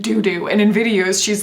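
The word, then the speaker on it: Doudou: called doo doo okay d-o-u-d-o-u there's no other way to pronounce that other than doo doo and in videos she's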